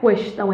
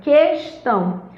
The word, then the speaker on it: questão: Não é questão, é questão. Distinguir.